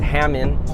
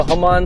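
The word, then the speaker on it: Hamann: it's pronounced but whatever I'm not going to call it Hammond I don't think it's pronounced Hammond but I think it's come on whole month sounds Jeremy so home on sideskirts and then also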